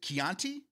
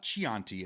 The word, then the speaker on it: Chianti: Today we celebrate uh National Is it Keianti? Is it It's It's Is it It's It's the wine, right? It's not chianti.